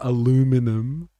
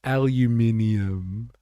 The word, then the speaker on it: aluminium: It's not aluminum. It's aluminum.